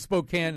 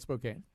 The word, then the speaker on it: Spokane: Yes, and it's Spokane, not Spokane.